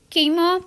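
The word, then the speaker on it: chemo: कीमो या फिर कैमो भी पढ़ते हैं इसे कई लोग। ठीक है, तो आप जो भी चाहे वो पढ़ सकते हैं, वो आप सभी को प्रोनाउंसिएशन पर डिपेंड करता है। ठीक है, तो आप चाहे कीमो पढ़े या फिर कैमो पढ़े।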